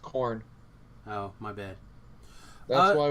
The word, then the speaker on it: Karn: Like, Don't forget I all don't those understand why Karns. people are. All Well, those his Karns. name is pronounced Corn.